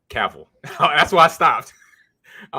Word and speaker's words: Cavill: If I say his name, Cavill. That's why I stopped. I was like, let me think about his name because I always say Cavell. You're say Cavell or Cavill.